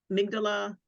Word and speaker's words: amygdala: also had us focus on the the make amygdala am I pronouncing it correctly amygdala yeah amygdala yep yeah and he was talking